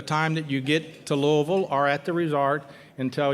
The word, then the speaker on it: Louisville: that you use the Louisville Airport and I pronounced Louisville correctly it's not Louisville its Louisville so it's local Louisville so we recommend you